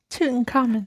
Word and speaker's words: Tutankhamun: Tutankhamun. Tutankhamun.